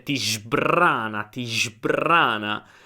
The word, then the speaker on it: sbrana: says ti sbrana, ti sbrana. So it's not sbr but sbrbr.